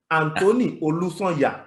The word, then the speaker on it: Anthony Olusonya: So my third pick is a Nigerian Finnish player, Anthony Olusonya. That's how we pronounce it in Nigeria.